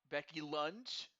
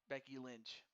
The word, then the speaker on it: Becky Lynch: A Becky Lunch. Oh no. Oh. Oh no. Violet, you had it right. Becky Lunch. I like that actually. Becky Lynch.